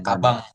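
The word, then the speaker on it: かばん: Misalkan tas kaban harusnya kan N doang nih. Tapi dia dibacanya kabang. Kabang.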